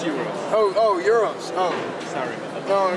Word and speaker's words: gyro: I thought euro was food. What do you mean? I thought it was Greek food. I can't get it. I thought euro was Greek food. Greek food? Yeah. It's spelled like gyro.